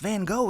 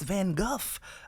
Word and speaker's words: Van Gogh: found out that it's actually not pronounced Van Gogh it's van Guff yeah my head just